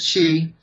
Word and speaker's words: Xi: President Xi, it's pronounced sh ei. President Xi met with the Saudi